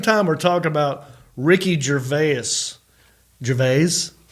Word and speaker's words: Gervais: we're talking about Ricky Jerus Jes or is it Jerus? How do you say it, Elliot? Jerves. Jerves. Yes, that's how I do it.